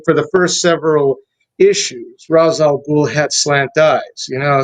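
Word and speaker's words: Ra's al Ghul: essentially I mean rather Razal Ghoul is essentially Fu Manu. I told you the name Fu Manchu, three syllables, Razal Ghoul.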